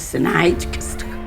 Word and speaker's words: Sinixt: The way we pronounce our name is Sinaichkst. Sin is the place. Aichkst is a bull trout, and Ind is the people. The place of the bull trout people.